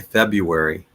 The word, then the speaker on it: February: A lot of times I will not pronounce the first R. I'll just say February. But it's both R's are pronounced February.